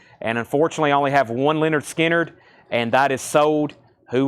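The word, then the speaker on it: Lynyrd Skynyrd: wow my favorite from analog Productions Leonard skinnard pronounced Leonard skinnard that is $ 69.99 25% off $52.49 amazing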